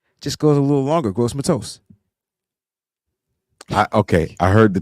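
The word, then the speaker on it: Gross-Matos: right way all right gross Matos not toast people said I said toast but I don't be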